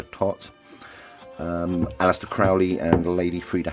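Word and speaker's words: Thoth: Equinox is a tot deck, and I believe that's the correct pronunciation for tot.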